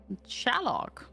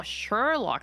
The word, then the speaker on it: Sherlock: is it's called Weaver shlock oh you're watching Sherlock oh Sherlock that's how you say it I it was shlock Sherlock Holmes okay yeah Sherlock H